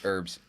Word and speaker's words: herbs: H in it silent the H is silent herbs um unless you're talking